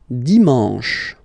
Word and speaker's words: dimanche: And the last one, dimanche, dimanche. You get the sh, sh, sh, sh, and then A-N, en, en, dimanche. Okay, let's see them one more time. Lundi, mardi, mercredi, jeudi, vendredi, samedi, dimanche.